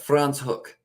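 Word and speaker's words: Franschhoek: So it's France hook. That's the thing. I would have said that completely wrong to anyone I said it to if I didn't know that pronunciation.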